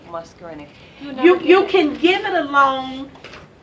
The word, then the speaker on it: muscarinic: Muscarinic. Muscarinic.